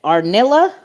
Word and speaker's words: Arnilla: we got um our is it arnilla is that how you say it yeah okay and then we